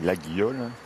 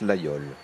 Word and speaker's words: Laguiole: Ça s'écrit l'Aguillole. Oui, ça s'écrit l'Aguillole et ça se prononce l'Aïole.